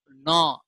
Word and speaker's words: gnaw: And gnaw, G is silent there.